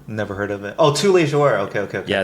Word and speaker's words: 뚜레쥬르: Oh, tous les jours. Okay. Yeah, it's a French word. What's the Korean pronunciation of tous les jours? 뚜레쥬르.